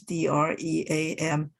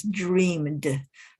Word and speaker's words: dreamt: sometimes it's spelled as d-r-e-a-m-t it is the past tense of dream so some people would still pronounce it as dreamed but some people would